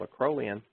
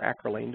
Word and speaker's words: acrolein: breaks down to a compound called a crow lien or acrolein depending on how you want to pronounce it there are a number